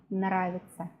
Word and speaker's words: нравится: Русский язык нам нравится. Or мои уроки нам нравятся. The pronunciation is almost the same. Нравится, нравятся. The spelling is different, but when we pronounce, sometimes we don't hear any difference at all.